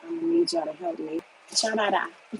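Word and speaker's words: 加拿大: Chanada. Yeah, that's how you say it in Mandarin, Canada.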